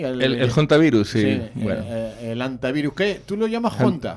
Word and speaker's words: Hantavirus: Bueno, eso es una forma de No, es que claro, en inglés en inglés la H se pronuncia, se pronuncia la H, ¿no? Hantavirus, elta, el Hondius, el